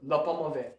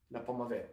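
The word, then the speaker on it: L'Paume Ouverte: Le Pommavet. L apostrophe P-A-U-M-E Mhm. and then separate word capital O-U-V-E-R-T-E. Le Pommavet means the open hand.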